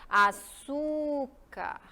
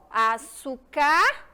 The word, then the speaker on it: açúcar: ou eu falo você a ideia aqui é que vocês entendam a sílaba mais forte ou seja a sílaba que eu demoro mais açúcar açúcar ou açúcar a página página página